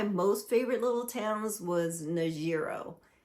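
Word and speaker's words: Nájera: And one of my most favorite little towns was Najiro. And maybe you don't pronounce the J, maybe it's Nahiro, but I really enjoyed Nahiro.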